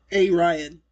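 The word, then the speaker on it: Aryan: refering to but that it's pronounced Arian a Ryan yeah anyway it's going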